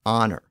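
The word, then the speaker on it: honour: So words like honor, honest, hour, as in the time of day, heir, as in someone who inherits property, and herb were spelled with their silent H.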